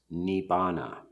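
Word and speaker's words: Nibbāna: And a synonym for that would be nirvana or nibbana. I'm from the Theravada tradition. The early suttas and the word, which is commonly pronounced nirvana in Sanskrit, is pronounced nibbana.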